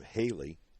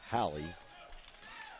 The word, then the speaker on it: Halle: And Jamie's pronouncing her name Haley as opposed to Hallie. Well, then it probably is. Yeah, because he usually doesn't miss on those. I just noticed it there in the law. It's spelled Halle, which is normally Hallie.